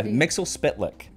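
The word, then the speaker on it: Mxyzptlk: good Lord but yeah Mixel spit lick that's the official pronunciation I hate it when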